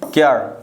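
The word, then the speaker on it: care: ई, तो क्या बनेंगे, क्यर, क्या बोलेंगे, क्यार बोलेंगे, केयर बोलेंगे, केयर बोलेंगे, ना कि क्यार बोलेंगे, है ना। क्यार नहीं बोलेंगे, ये हमारा गलत हो जाएगा।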